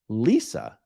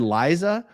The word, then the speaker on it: Lisa: For the record, my name is pronounced Lisa. I've always pronounced it Lisa. Has anyone said Liza or Lisa?